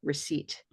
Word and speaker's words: receipt: So let me write receipt on So the my, silent letter there is P. yeah, exactly. The silent letter is P.